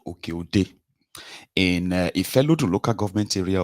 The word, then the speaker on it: Oke-Ode: I believe that's the pronunciation, Oke-Ode, in Ifelodun local government area of Kwara State.